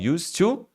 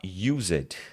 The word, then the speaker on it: used to: cuidado para não falar Used Used sen não vai falar o e aqui tá o nosso